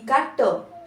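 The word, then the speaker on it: caught: वैसे अ का क जी एच साइलेंट हो जाएगा फिर क वैसे ए यू का आ टी का ट कॉट कॉट ठीक है उसके बाद अगला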